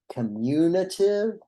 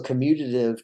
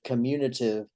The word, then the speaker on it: commutative: sometimes people mispronounce this word uh it's sometimes pronounced like communitive and that is particularly the case here in the south where we tend to uh go a little soft on our consonants anyway uh so commutative commutative don't really sound all that much different commutative